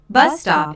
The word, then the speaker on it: bus stop: used to check information bus stop is a compound noun with the main stress on the first word o is an exclamation